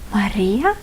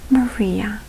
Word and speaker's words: Maria: You will need to roll your tongue to actually pronounce it properly. Like in a word rest, but you need to roll your tongue. Like in my name, for example, Maria and Maria. You can see a little bit of a difference there.